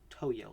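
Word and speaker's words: Tohyo: or have repronounced it not tokyo games it's toyo like t-o-h-y-o um but doubt i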